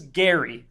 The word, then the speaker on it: Gary: who is a cow whose name is Gary and it is spelled like Dairy and you could tell